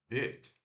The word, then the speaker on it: bit: E esse som aqui de mordida, né, é o B normal, o I curto e o T. Então, ó, o I curto é aquele que a gente não sorri, e também é curto, né? É I, não é beat, ó. O beat, beat, beat. Agora o outro é bit. Bit.